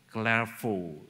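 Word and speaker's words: Clairvaux: Benard of glf ini bahasa Prancis tadi bacanya sukar clvo sinard of CL hidup di anara tahun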